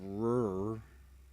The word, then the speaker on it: RRR: Top Hat says it's pronounced "rrr."